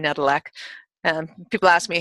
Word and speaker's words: Nedelec: you can see my name, which is Nedelec, Nedelec. is. Last name Nedelec. And people ask me, how do you pronounce it?